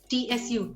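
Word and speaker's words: つ: Now you have to actually take care that it's not ti, it's chi, and this one not su, not tu, but su. So this is what I mean. It's tsu, su.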